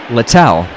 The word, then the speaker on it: Littell: see how I want to make sure I pronounced that correctly littell yeah I got it right starter turned reliever